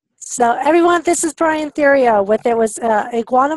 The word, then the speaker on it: Theriot: his last name Syrio Cajun French and it's pronounced in my strain of the family here we go so everyone this is Brian Terrio what there was a Guana marketing iguana Media